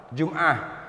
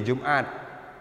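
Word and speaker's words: جمعة: Contoh misalnya sholah menjadi sholat, jum'ah menjadi jum'at. Sebenarnya bukan jum'ah, karena ta marbuthah. Sholah. Ta marbuthah. Kalau kita berhenti bacanya ha, ya, bukan ta.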